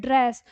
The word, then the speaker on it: ड्रेस: ठीक है, इसी तरह हम जैसे कह रहे हैं ड्रेस, तो ड का उच्चारण आधा है, ड्रेस। ठीक है, ड्रेस ऐसे बोल रहे हैं।